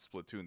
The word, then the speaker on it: Splatoon: nintendo directs or anything they pronounce it splatoon they never say splat the only person i